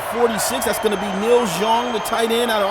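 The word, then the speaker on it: Xiong: That's gonna be Neil Zhong, the tight end out of Arkansas State. 27 years of age, 6'4", 263 pounds. I think that's how you pronounce that, X-I-O-N-G, Zhong.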